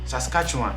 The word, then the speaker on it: Saskatchewan: you can see that on the screen okay saskatchewan i mean that's how i prefer to pronounce it so these are basically the 10